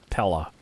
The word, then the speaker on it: paella: do you say this Pella the smell of the sea wafts gently from this warming delicately spiced dish it's pronounced prella pie a yeah why would you